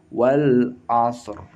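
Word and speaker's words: والعصر: Maka tidak heran dan harus dibaca ketika membaca surat Al-Asr ayat 1 itu ro-nya tebal atau tafkhim. Kalau misalkan wakaf di sini sebagai ayat pertama, maka dibacanya wal asr, asr, wal asr, wal asr.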